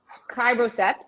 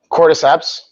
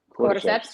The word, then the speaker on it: cordyceps: lions mate the superhuman cribrosepps did i say it right cordyceps quarter steps you're right that's it got it okay